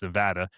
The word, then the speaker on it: Nevada: Because I said Nevada, I got yelled at. It's Nevada.